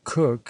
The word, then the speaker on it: Coke: Sir Edward Cooke Sir Edward coke or Cooke as now pronounced and occasionally so written